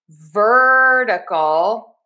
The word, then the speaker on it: vertical: Now technically this is a flap T in the syllable number two. However, I just spell it with my phonetic spelling as a D because the flap T is like a fast D sound. So we are going to stress syllable number one. We are going to have that flap T in syllable number two and we're going to say dur ver.